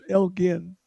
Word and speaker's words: Elgin: I mean, is uh Lord Elka Elgin, it's Elgin uh pronounced savior or vandal?